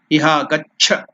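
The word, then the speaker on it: इह गच्छ: Iha, Iha, Agaccha. So, Agaccha means please come. So, in that last letter is conjoined. Cha, first one, and the second one. Both are there. That's why Gaccha, Gaccha.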